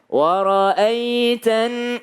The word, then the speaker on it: وَرَأَيْتَ: Wara'aitan. Kalau ada ya sukun, sebelumnya ada fathah, bacanya ai, ye, ya, ai, bukan e. Jangan jadi bukan wara'aitan, salah kalau pakai e, wara'aitan nasa karena banyak orang ya.